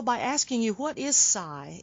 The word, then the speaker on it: Sai: Psi.